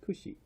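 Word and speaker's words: 串: this one actually means shish kebab and it's pronounced Khushi so if you go to a restaurant and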